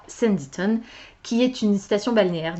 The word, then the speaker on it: Sanditon: Alors, comme prévu, je n'ai pas avancé dans These Violent Delights, mais à midi, j'ai effectivement commencé Sanditon, puisque c'est comme ça que ça se prononce, j'ai vérifié.